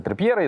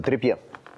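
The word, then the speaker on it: Trippier: в том числе позиция трипера из-за этого и вчера вот карта р не произносится триппьер он трипер - это другое Послушай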